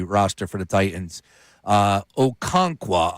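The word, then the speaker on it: Okonkwo: Uh Okonqua, I believe is how you pronounce his last name.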